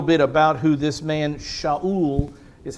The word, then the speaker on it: Shaul: We get to see a little bit about who this man, Shaul, is how a Hebrew would say his name, Shaul.